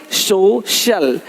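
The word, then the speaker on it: social: अब देखो, यदि सी के आगे आई ए हो तो सी का उच्चारण श होता है। क्या होता है? श होता है। क्या लिखा हमने? सोशल, सोशल, सोशल।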